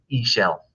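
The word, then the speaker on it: Ixchel: is isheld all right it's spelled i x c-h-e-l but I asked around to some experts and I'm told that you say that word e shell all right that name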